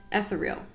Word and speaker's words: ethereal: is in the shade Ethereal. There's the shade Ethereal. So let's swatch it. Sorry guys, the real pronunciation is ethereal.